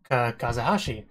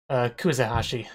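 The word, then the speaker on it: Kuzehashi: But the big thing with this episode was actually Kazahashi, the teacher, because she's, like, not quite the same as Katasuma. Kuzahashi. I don't think I said it right before.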